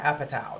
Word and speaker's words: Apatow: Apatow.